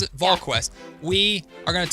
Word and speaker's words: VolQuest: That's how you pronounce it? VolQuest.